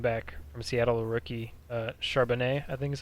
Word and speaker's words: Charbonnet: Charbonnet. I think his actual Yeah. sneaky good pick is the running back from Seattle, the rookie Charbonnet.